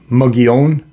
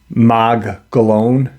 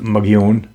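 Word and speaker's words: Mogollon: know um why what and the it's actually pronounced um mogione but the Caucasian pronounce it MOG gallon it's m-o-g-o-l-l-o-n but it's pronounced magion um do you remember the cave paintings in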